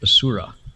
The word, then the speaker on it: Asura: these beings called assurance some people pronounce that without the H Asura right assure us Joshua